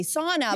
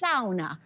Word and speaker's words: sauna: And of course, in English, we say sauna, but if you are Finnish, it's sauna.